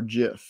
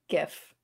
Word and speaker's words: GIF: ones but it'll be fun um is it pronounced gif or jif gif yeah all right that one's that might be